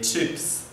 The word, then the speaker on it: chips: les chips les chips la prononciation c'est comme en anglais les chips les chips les frites